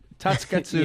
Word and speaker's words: Tasuketsu: Correct me if I'm saying it wrong, but Tasuketsu. Say it a lot faster, and then you'll be saying it right. Tasuketsu. Tasuketsu. Tasuketsu. There's supposed to be no like pause.